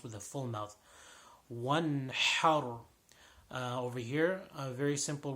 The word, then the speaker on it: وانحر: وَانْحَرْ. Over here, a very simple word. The ha is the strong ha, the sharp ha.